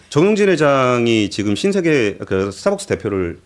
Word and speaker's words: 정용진: 굉장히 많이 하고 죄송한데 발음 좀 조금 정확하게 정용진입니다. 용진으로 좀 부탁드리겠습니다. 정용진. 지금 댓글에서도 다 지금 나랑 헷갈리고 있어요. 우리도 많이 말아먹지만 그래도 정용진보단 낫습니다.